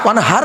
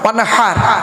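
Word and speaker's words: وانحر: এই দেখেন, ইন্না আতাইনাকাল কাউসার ফাসাল্লি লিরাব্বিকা ওয়ানহার, ওয়ানহার নয় ওয়ানহার, এই গলার ভেতর থেকে এটা উচ্চারণ হবে, ফাসাল্লি লিরাব্বিকা ওয়ানহার।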